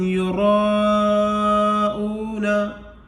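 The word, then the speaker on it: يُرَاءُونَ: الف مدہ کا ہے اور یہاں پر حمزہ اسی کلمہ میں آ گیا ہے تو یہاں مد متصل ہوگا، اس کو 5 الف کے برابر کھینچ کر کے پڑھیں گے، اور یہ واو جو ہے یہ بھی مدہ کا ہے، اس کو 1 الف کے برابر کھینچ کر پڑھیں گے، اور نون زبرنا کو جلدی سے پڑھ دیں گے۔ الذین هم یراؤون، یراؤون،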